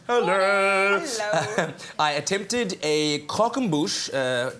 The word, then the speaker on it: croquembouche: I attempted a croquembouche 2 weeks ago. Am I saying it right? Croquembouche. Croquembouche, yes. Croquembouche.